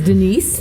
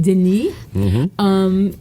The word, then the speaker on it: Denis: So we've got Denis, which I guess is Dennis, but rather than make it Dennis, hey, I dig you, Dennis. Yeah, right. Denis, the French pronunciation of Dennis, and masculine form of